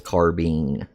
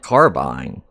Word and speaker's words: carbine: It is carbine. I don't know why, but when referring to the rifle, they say carbine. I learned that the hard way because I was pronouncing it carbine, and then I got corrected.